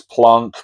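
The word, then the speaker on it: Planck: He solved the problem by using the work of Max Plank which I've heard his name pronounced Max Plunk but I just can't bring myself to say that. Max Plon Max Plank.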